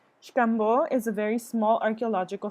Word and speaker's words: Xcambo: In Mayan, the X is pronounced as an SH. Xcambo is a very small archaeological site about 20 minutes from Telchac Pueblo, where my parents are from.